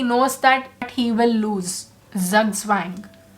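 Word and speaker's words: zugzwang: that he will lose zug swang that's how it's pronounced wang so those were the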